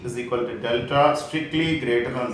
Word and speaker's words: delta: Okay, here I call d or delta. The symbol, triangular symbol, is pronounced as delta.